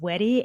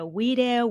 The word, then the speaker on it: Weddy: A lot of people butcher my name, but I'm okay with it now. It's pronounced Weddy, and I get Wedeh, Ouija, A.